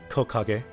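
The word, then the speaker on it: 木陰: lost so you have made a mistake there Coco gay so some kanji have a more rare reading usually tree is pronounced key but for that one they pronounce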